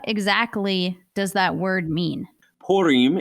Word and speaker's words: Purim: that word mean purim if we say it like uh in a in a good and my wife's israeli so she would say pulim you know in her best world are kind of that french style but anyway lots of